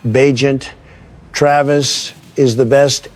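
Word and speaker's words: Bagent: Travis Badger. I'll take it from here. Barry, and it's pronounced Beagent.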